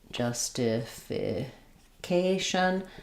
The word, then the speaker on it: justification: justification. This one follows the pattern of when we have Asian or ishan words, we're always stressing on the um syllable before the shun.